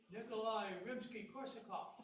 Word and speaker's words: Nikolai Rimsky-Korsakov: Nikolai Rimsky-Korsakov.